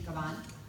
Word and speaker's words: Cabán: Am I pronouncing Cabán? Yes. Sorry about that. No, thank you. Hello everyone, my name is Tiffany Cabán.